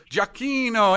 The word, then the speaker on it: Giacchino: So I'd like to welcome to the show Giacchino. come va? Come stai? Bene. And thank you very much for the pronunciation of the name.